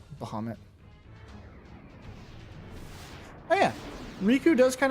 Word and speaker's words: Bahamut: I've always said Bahamut. Hope that doesn't bother anybody. I hear a lot of people say Bahamoot, but too many years of what is it?